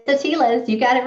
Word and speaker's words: Atiles: name a little bit do you want to pronounce it appropriately for us it's the tilas you got it right not a lot of